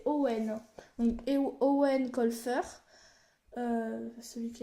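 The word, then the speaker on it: Eoin: Donc c'est Warp, l'assassin malgré lui, de Ewan, est prononcé Ewan, oui c'est marqué le marque à l'intérieur. Prononcé Owen.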